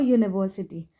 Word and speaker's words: university: Now number 2 example is a university. In university, note that in university the letter U is pronounced as U. Okay, university को हम कैसे pronounce करते हैं? U से, which begins with the consonant Y.